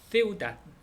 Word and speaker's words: ciudad: 그 디귿으로 예를 들어서 세우닷 세우닷 CIUDAD 그래서 앞에 있으면 그냥 디귿 발음 그대로 이렇게 하면 되는데 뒤에 있는 거는 D는 무조건 받침으로만 써라. 그래서 세우닷 세우닷 도시란 뜻이죠. 그래서 맨 뒤에 D가 오면은 받침 디귿으로 써라.